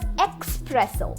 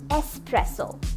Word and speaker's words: espresso: This is my personal favorite because this is not pronounced as espresso. However, this is pronounced as espresso. Stress on the S and not the X.